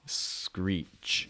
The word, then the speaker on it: screech: make when put together make sure you're gonna get that long e sound scree screech screech okay so that's a